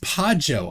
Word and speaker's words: Pajo: Pronounced Pajo. I'm Irish, just my nickname.